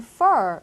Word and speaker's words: fur: He has brown fur. 이렇게 쓰시면 돼요. 자, fur를 쓰실 때는요, F-U-R. 이때는 F 발음을 확실하게 해주셔야 되겠죠. brown fur 하시면 안 되겠죠. 그래서 뭐 F 발음이라든지 V